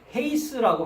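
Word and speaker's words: εἷς: 센 발음을 강한 발음으로 하게 되면 헤이스라고 발음합니다.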